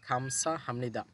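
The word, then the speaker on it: 감사합니다: জানাবো, তো এখানে বলছে খামসা হামনিদা, গিয়ক শব্দের শুরুতে আসলে খ হবে, আর এখানে এই বিউপের পর নিউন থাকার কারণে বিউপটা ম হবে, তাহলে উচ্চারণ হবে খাম সা হামনিদা, মানে হচ্ছে ধন্যবাদ।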